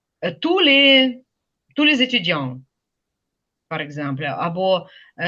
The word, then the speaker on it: tous: Ту не вимовляємо «с», коли це відноситься до людей, до чого завгодно, але стоїть разом з іменником. Tous les étudiants, par exemple,